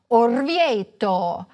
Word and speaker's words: Orvieto: In Italian the stress most often falls on the penultimate, or second-to-last, syllable: firENze. saLERno. toRIno. orvIEto. aBRUzzo. However, some words are stressed on the third-to-last syllable, such as MAntova, GEnova, Udine.